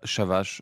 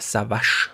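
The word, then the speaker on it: Çavaş: Also lieber Shavash, mach doch daraus mal einen Rap-Song. Ja, er schreibt extra dazu, wird nicht Savash ausgesprochen, sondern Shavas, ich weiß nicht.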